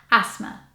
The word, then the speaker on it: asthma: confusion because it makes you think like it would be a stammer ask the math but it's not it's asthma so why put the th in there I don't know but yeah so you pronounce it asthma number 14 this is